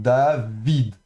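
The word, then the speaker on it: דָּוִד: Le vav ici est bien consonne, donc on va le prononcer Davi avec le chirek et le dalet final, donc David, d'accord.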